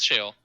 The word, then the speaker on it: Sheol: shale i'm just because i think i pronounce it as shawl maybe but it's no it's shale yeah i've just heard